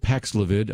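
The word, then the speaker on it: Paxlovid: that first of all in blind test pfizer's paxlavid that's how you pronounce it paxlivid i checked it out alpacs levitt was found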